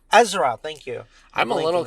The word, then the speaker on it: Ezra: do you say his name what's his name azer Azura Ezra Ezra thank you I'm a little concerned because like